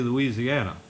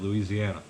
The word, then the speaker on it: Louisiana: thinking about him he don't whenever i'd say louisiana i mean that's if you're from the north most of that's how we say it louisiana he said i just it just kills me